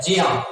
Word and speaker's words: ज्ञ: इसका जो सही प्रोनाउंसिएशन है वो जिया पढ़ा जाता है, ठीक। ज्ञा से ज्ञानी जो हम लोग पढ़ते हैं कहीं कहीं गलत है। इसका सही प्रोनाउंसिएशन है जिया, क्योंकि आधा जा और या मिलकर के बना है जिया, ठीक।